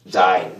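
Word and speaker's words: זין: zain, z 발음이 나죠. z 발음이 납니다. z 발음, zain.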